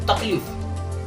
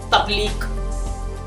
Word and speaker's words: तकलीफ: सो तकलीफ, तो तकलीफ क्या है? तकलीफ जो शब्द है ना, तो बहुत से लोग उसको कैसे प्रोनाउंसिएट करेंगे पता है? तकलीक।